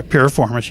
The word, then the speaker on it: piriformis: miss my soul i think that's how it's pronounced yeah piriformis yes performace okay so it was really I